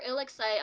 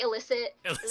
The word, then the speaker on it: ILLIXCITE: It is illicit and excitement. So the illit and then sight of ILLIXCITE.